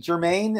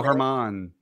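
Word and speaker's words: Germán: took out your mate Jermaine is that how you say it not Domingo Herman come on they took out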